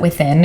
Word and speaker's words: WTHN: But my friend, she has a membership at this place called, I think you could pronounce it Within.